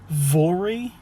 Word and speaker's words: Voirrey: Voirrey, but I know that's probably wrong. It's like Rory, but French. It's Voirrey.